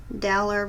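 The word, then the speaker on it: Daler-Rowney: I have a hard time pronouncing that. It's Dalerrowney, Rowney, Pro White.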